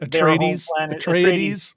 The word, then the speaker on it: Atreides: Anyway, you have the big wooden sets and the Atreides, I can't pronounce that. Atreides.